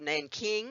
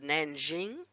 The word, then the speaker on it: Nanjing: It has, in 1937, it invaded the city of Nanking. It was called Nanking then. Now it's called Nanjing because we've become better at pronouncing other countries' wording.